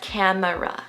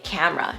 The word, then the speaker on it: camera: this next word as camera resellables when in reality all native speakers say camera just two syllables let's listen closely to